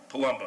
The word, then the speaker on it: Palumbo: didn't butcher your last name how do you pronounce it properly palumbo okay good palumbo parking facility and security